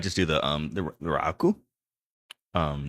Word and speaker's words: Raku: It's raku. Rau raku. Rau raku. Okay. But if you want to say it like with a Japanese is raku. Rau raku.